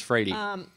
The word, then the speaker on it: Freire: She told me it's Freire.